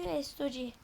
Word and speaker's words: S2G: S2G bunu yazılışı S2G okunuşu Sog.